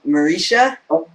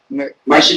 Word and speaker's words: Marcia: Marisha? Marcia Gay Harden and Yes, Jolie.